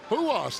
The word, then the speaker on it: Ruas: Huas, and that's spelled with an R, and y'all are saying Huas. Huas. I like the sound of it, Huas.